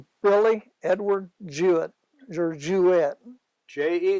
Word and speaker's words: Jewett: whole name Billy Edward Jewett Georgia wet je it's pronounced and the name does